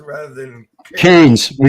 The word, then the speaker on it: Cairns: And I've been up to Cairns.